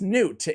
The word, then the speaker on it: Gnut: trying to get one Champion's pronunciation right and it's Newt I just want to